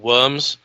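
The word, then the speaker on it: wyrm: It kind of looks more like one of the old worms. Spelled WRYMS, not WOR. So that's right. That's quite right. A worm. A worm. Worm.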